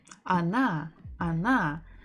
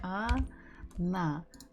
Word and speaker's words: она: So the word she, она, the stress falls on the last syllable. So the first letter O, is not stressed. So we must read it or pronounce it as A.